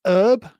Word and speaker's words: herb: And I've noticed that you Americans have this weird way of pronouncing herb. It's herb in the American lexicon, which is weird because it's got a H on it, and H is a letter, a consonant.